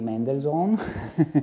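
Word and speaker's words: Mendelssohn: E poi la la sinfonia italiana di Mendelzone, per dirla con la pronuncia corretta, che temporalmente situiamo il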